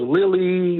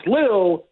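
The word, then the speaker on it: Lille: heard of it even how to pronounce it I was Lily lyo we were all over the place but it's liil and it's a really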